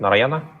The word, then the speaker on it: Narayana: Now, I just have to know that Rishit is still a student of Narayana School. Am I pronouncing it right? Narayana? Yeah, that's right.